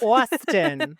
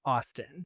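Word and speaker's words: Awsten: Austin. Oh, Austin. Austin. That's how it's spelled. You pronounce it like it's spelled.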